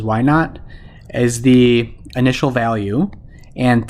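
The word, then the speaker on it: y₀: also write it as y sub zero which we can pronounce as y naught is the initial value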